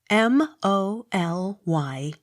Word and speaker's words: Molyneux: M-O-L-Y-N-E-U-X. Molyneux. The X sounded with slight accent on last syllable.